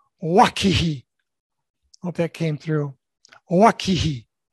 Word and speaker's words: Owakihi: The company I worked for most of my life was called Owakihi, actually pronounced Wakihi.